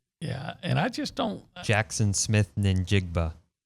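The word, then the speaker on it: Jaxon Smith-Njigba: Jackson Smith Njigba. I think the N is silent.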